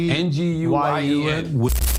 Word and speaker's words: Nguyen: How you pronounce it, Chris? It's a Vietnamese name. Nguyen.